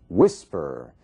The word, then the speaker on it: whisper: E aí nós temos um outro caso, whisper. Whisper, você vê que a força da palavra, sílaba tônica, está na primeira parte, whisper.